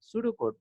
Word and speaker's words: pseudo: সুডো শব্দটা PSEUDO সুডো। এই সুডো বানানে হচ্ছে এস নাই, শুরুতে পি আছে।